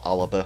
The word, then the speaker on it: Alba: Scottish independence, which was ALBA, or Alaba, I think is the actual proper way that you pronounce that.